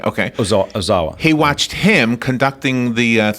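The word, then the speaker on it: Seiji Ozawa: Well, how do you pronounce his name? Seiji Okay. Ozawa.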